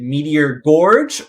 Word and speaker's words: Meteor Gorge: is it is it meteor gorge or is it meteor george it which which is the current correct pronunciation and florida z said the correct answer which was george and mayo put him